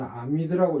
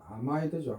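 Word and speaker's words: amide: 그래서 옛날에는 아미드라고 읽었는데 지금은 아마이드죠.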